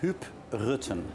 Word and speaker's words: Huub Rutten: Do I pronounce it correctly? Yeah, RUTTEN? Huub RUTTEN.